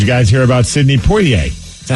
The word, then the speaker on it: Poitier: Did you guys hear about Sidney Poitier? Is that how it's pronounced? Poitier?